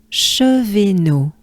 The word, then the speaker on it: Chevenot: De, ch, de, ch, de, che, V, It's a E and not an E, which is why I refer the E as a banana smile, so we can differentiate them. E, just as in café. E. So it's chevet, chevet, E. Chevet, no, chevet, no. So as a whole, we take a good breath. Côte de Chevenot.